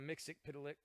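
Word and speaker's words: Mxyzptlk: mixing pedelec I know it because the cartoon yeah that's how they pronounced it in the Superman animated animated series so I'm sooo - that is the correct way but the thing is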